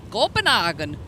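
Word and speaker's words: Copenhagen: Copenhogen.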